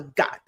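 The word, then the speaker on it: gat: It's called a got g a t, but uh pronounced got. So again, half g, half k sound.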